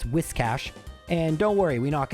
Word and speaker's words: Whiscash: Actually mispronounced that. It's Whiscash.